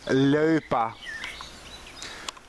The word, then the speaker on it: Loepa: Yes, I know you write Loepa, but you pronounce it Loepa.